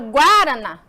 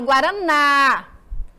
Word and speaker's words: guaraná: ela tá aqui ó na palavra guaraná eu falo guaraná não eu falo guaraná você vocês tem que pronunciar dessa forma para que você se identifique qual é a sílaba tônica Qual é a sílaba tônica professora é a mais forte e aqui ela tá na última e ela é oxítona